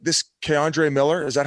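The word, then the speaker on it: K'Andre Miller: They're saying this Keandre Miller.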